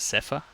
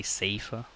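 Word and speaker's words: Seifer: she'll let you suffer that's how I pronounce it safer some people say safer but guess what comes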